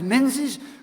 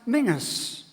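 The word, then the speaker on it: Menzies: if you name is menes we all know that word is in Scots languages pronounce Mingus and those of you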